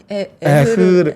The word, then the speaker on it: Aehr: 이거 발음 왜 이렇게 어려워요? 에흐르 그러니까요. 에흐르고요.